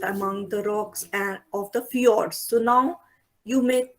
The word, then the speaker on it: fjord: the rocks of the fjords. So now you may say, what is this FJORDS? How are you going to pronounce it? It is fjord.